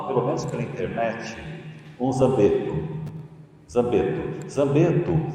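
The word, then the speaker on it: Zangbeto: Vocês leem errado como zanguebeto, só que se pronuncia zambeto.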